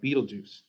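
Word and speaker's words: Betelgeuse: the album is called Beetlejuice Beetlejuice it's it's it's spelled like that because that's the actual astrological like the the cosm cosmological term but it's pronounced like the movie Beetlejuice and we decided we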